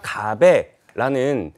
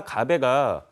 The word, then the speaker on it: 가베: 근데 그 강릉 지역에 원래부터 있었던 하슬라 가베라는 그런 어떤 음식점 커피집이 있었어요. 근데 가베가 뭐냐? 갑에 갑에 저도 몰랐거든요. 커피 예, 맞아요. 커피를 이제 한국식으로 발음을 해 가지고 하슬라 가벼라는 커피집이 그